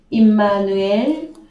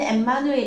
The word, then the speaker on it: 임마누엘: 예 6005 예 그래서 임마누엘이 히브리어 발음은 임마누엘 입니다 그래서 어 우리나라 번역 성경에 임마누엘로 했죠 헬라어로는 엠마누엘 있데 히브리어로에 근거해서 임마누엘이라고